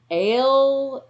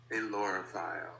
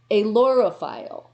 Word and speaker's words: ailurophile: I think it's aerophile. Aerophile. And it's spelled AILUROPHILE. Yes, that's a really hard one. And that is in English, all right? But here it is. This is the pronunciation. You ready? Alorophile.